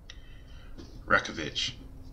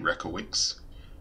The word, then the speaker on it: Rekovich: Rekovich. That's how you're supposed to pronounce that name. I've been saying it wrong. I've been saying Rekowix, I think.